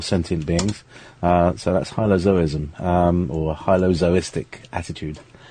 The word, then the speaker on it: hylozoism: means uh everything um zo as in zoo as in um uh as as in animals uh or alive or sentient beings uh so that's hylozoism um or Hyo zois